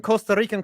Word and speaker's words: Costa Rica: The Rammers line, we told you for 1,000 Costa Rican colones. You have to say Costa Rica. You have to roll your R's.